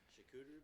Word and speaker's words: charcuterie: Nick can say that one because he's got a mic and I can't pronounce it. Charcuterie board? Chicoutimi? Charcuterie.